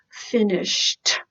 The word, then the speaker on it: finished: finished good sh+ edy the pronunciation is T finished everybody that's right finished he has finished cleaning